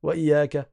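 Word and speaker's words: إِيَّاكَ: Et sans exagérer sur le ya en disant wa ij. Là, ça devient trop fort. Il ne faut pas appuyer sur les points de prononciation fort, en crispant et avec vos muscles, de sorte à vous fatiguer. Non, c'est fluide et léger.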